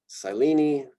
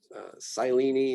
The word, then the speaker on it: Silene: Salvia, Scrofularia, Sicarigera, Senecio, Silene, so long I there. Silene is how most people say that, I think.